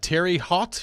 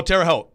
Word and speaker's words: Terre Haute: was with cleveland's everybody's like ooh cleveland uh terry hot indiana i don't know how to say this oh terre haute terrace terre haute indiana i'm stupid i knew